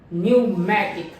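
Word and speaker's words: pneumatic: राबी राबी राबी यहां पर भी पैर मेरा साइलेंट है अब जो हम देख लेते हैं कि यह साउंड है पी न्यूमेटिक न्यूमेटिक न्यूमेटिक एन से पहले प आ रहा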